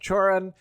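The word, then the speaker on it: Cioran: And then finally, wrapping it up, we have this interesting reference to, I think it's pronounced Choran.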